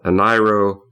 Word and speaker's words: Ahnayro: are you talking about all right yeah it is spelled a h a-h-n-a-y-r-o it's called a nairo colon the dream world it is roughly five